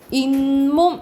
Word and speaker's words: 잇몸: 그리고 어떻게 우리가 잇몸 이건 어떻게 발음 나냐면 잇몸 이렇게 발음 나죠. 이건 니은 소리가 덧나는 거죠.